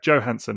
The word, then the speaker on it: Johansson: it's yeah so that's just kind but yeah Joe Hanson of course is how she pronounces it so fair enough she knows how